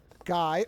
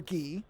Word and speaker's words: Guy: Brandon, Elizabeth, Guy or Guy, depending on how it's pronounced.